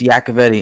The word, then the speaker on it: Yacovetti: getting your name wrong how you say your last name it's yakavedi and and Tony has a version of it also I I I'm the king Butcher of names so I apologize yakovadi I will butchered all